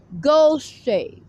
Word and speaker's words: Gaucher: Gaucher, spelled like the land of Goshen.